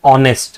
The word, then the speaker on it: honest: is not a Vel but see when you pronounce this word it says honest right the word that is coming out is